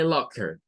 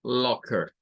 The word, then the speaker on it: locker: Nuevamente, palabra terminada en ER, donde la ER suena a schwa y vean que aquí nos vuelve a aparecer ese sonido de AO, de una A con O mezclada. ¿Vean? No es como decir locker, porque ahí lo estamos diciendo con O y con R. Es locker, locker.